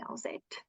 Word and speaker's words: Elzette: But nowadays I do I do have the confidence to correct people to say my name is actually Alet and that's how you pronounce it.